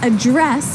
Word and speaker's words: address: the same way as address that's right but you pronounce it differently so the verb address has the strip de stress on the second syllable okay address yes and